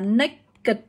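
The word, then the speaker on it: naked: như thế nhưng mà đây từ này từ đặc biệt nha các bạn không đọc như vậy đâu các bạn từ này chúng ta sẽ được đọc là nick cật nhé từ này từ đặc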